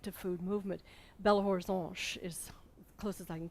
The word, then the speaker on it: Belo Horizonte: Belo Horizonte is close as I can get to the pronunciation, beautiful horizon.